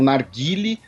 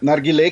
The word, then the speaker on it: narguilé: Algumas pessoas falam narguile, né, outras pessoas falam narguilé. Outras pessoas falam nargas. Os heterotópicos falam nargas. E narguilé, que é a pronúncia persa, né, mas também conhecido como hookah, né, hookah, do árabe.